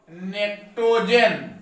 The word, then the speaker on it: pnictogen: P silent है, निक्टोजन।